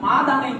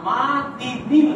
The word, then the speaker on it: মাদিনিল: তো আমরা দুরূদ শরীফের মধ্যে পড়ি যে মুহাম্মাদিন মাদানি পড়ি আমরা, এটাই আমরা দেখে পড়ে আসতেছি ওর, কিন্তু আসলে এই শব্দটা মাদানি হবে না, মাদিনিল হবে। এর সঠিক উচ্চারণটা হচ্ছে মাদিনিল। এখন দেখেন এই যে ওলিউল্লাহ